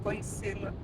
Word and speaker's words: conhecê-la: Prazer em conhecê-la.